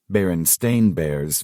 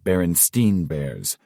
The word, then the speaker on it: Berenstain: Berenstain Bears versus Berenstein Bears. Everyone remembers it being the Berenstein Bears, but in reality, it's Stain.